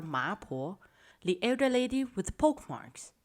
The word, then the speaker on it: 麻婆: mrs chen had some pork marks on her face which in chinese it is pronunciated ma and older women are oftentimes called poor so the customers at that time began to call her maapo the elder lady with